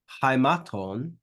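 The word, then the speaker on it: αἱμάτων: Then we've got another diphthong here, alpha iota, with a rough breathing mark. So that's pronounced hi, haimaton.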